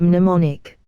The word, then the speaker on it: mnemonic: Mystics, Class W, X, Y and Z, same Greek root as the word mnemonic. The M is silent.